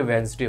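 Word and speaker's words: Wednesday: मां लेना जैसे वेडनेसडे बोलते है मतलब की वेडनेसडे होता है हमें पता नहीं है ठीक है साइलेंट होता है ऐसे ही घोस्ट बोलते हैं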